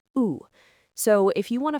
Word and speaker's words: où: Right, it's pronounced like the letter O, où.